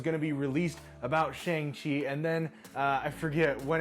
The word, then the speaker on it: Shang-Chi: I have learned that I have been pronouncing Shang Chi incorrectly this whole time. It's actually pronounced Shang Chi.